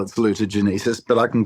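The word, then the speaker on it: salutogenesis: There's no correct pronunciation. It's a word that's written. It's like Latin. I just call it salutagenesis, but I can call it salucenesis.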